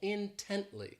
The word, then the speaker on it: intently: This adverb has 3 syllables and the stress is on that second syllable, intently.